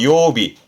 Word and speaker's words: 曜日: 마지막으로 날일자가 들어가면 그 새의 날개에 해가 비춰서 빛난다라는 빛날 요자 이거는 요일의 요자 그래서 요비 요일의 요자 요비로 정리하시면 어떨까 싶네요.